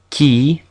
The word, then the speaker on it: qui: Although it is always followed by a U, like in English, it only ever makes a k sound, like in musique and qui. If you walk around saying qui, you're speaking Italian. R, this is the infamous